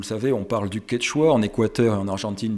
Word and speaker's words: quechua: tempérée, vallée andine tempérée, est prononcé quechua, c'est-à-dire avec une première voyelle qui est quelque chose à mi-chemin entre notre E et notre I, disons, pour simplifier, est interprété par les hispanophones comme un E, et donc ce terme comme quechua.